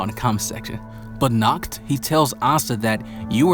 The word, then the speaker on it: Nacht: of the Vice Captain, Nacht, which you guys told me that's the way that you should pronounce his name, because in my review,